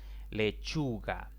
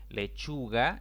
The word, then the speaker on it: lechuga: graves sin tilde lechuga lechuga es una palabra en la que la mayor intensidad de la voz recae en la penúltima sílaba contando de izquierda a derecha pero como esta palabra termina en vocal no debo colocarle tilde entonces esta es una